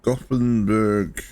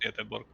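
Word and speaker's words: Göteborg: But yes, uh, Gothberg. Uh, oh, Yetorg. Okay, I see. Yeah, I see you. I see you on the map. It's pronounced Yborg.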